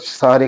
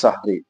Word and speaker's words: সাহরি: পরিভাষায় বলা হয় সাহারি আমাদের দেশে এই শব্দটা ভুল উচ্চারণ করা হয় অনেক মানুষই গ্রাম অঞ্চলের বিভিন্ন অর্থাৎ অনেক অশিক্ষিত মানুষ অথবা না জেনে না বুঝে মানুষ এই ধরনের উচ্চারণ করে এটাকে সেহরি বলে জের দিয়ে দিয়ে সেহরি শব্দ বললে এটা বলা হয় জাদু আর সাহনুন বললে বলা